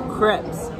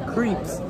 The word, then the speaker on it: crepes: left because I would do something and it's pronounced strawberry crepes but I called it strawberry creeps craps crease well anyways I was buttering yes